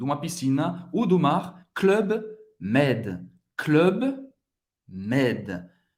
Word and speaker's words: Club Med: Club, você não vai falar clube. Dessa vez você não vai fazer o biquinho francês, porque acho que vem de uma palavra inglesa, então é club, club, aqui um clube, club med.